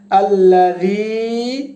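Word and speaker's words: الذي: আল্লাযী, এখানে 3 আলিফ পরিমাণ টান দিতে হবে।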